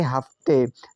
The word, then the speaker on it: हफ्ते: तो नेक्स्ट इस प्रकार से है HAFTE, पढ़ेंगे हफ्ते, तो एच से तो होता है हा, ए साइलेंट रहेगा, एफ से आधा फा, टी से ता होता है और ई से ए की मात्रा, हुआ हफ्ते।